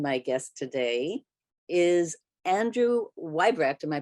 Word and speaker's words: Weibrecht: Bill schluger and my guest today is Andrew weibrecht am I pronouncing that correctly Andrew got it right yeah